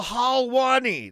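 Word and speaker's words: Helwani: was from a reputable Source it was Ariel halwani that's that's how you say his name he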